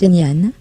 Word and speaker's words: Ngan: Avec Ngan, prononce Nian, lectrice invitée dans le